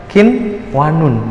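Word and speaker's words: قنوان: wajib atau interchar mutlak contoh lagi adalah qinwanun Kin pun gitu bacanya qinwanun atau kwanon Hai yang mana bacanya Iya qinwanun dibaca aja jelas tidak boleh didengungkan tidak boleh dimasukkan juga karena dia bukan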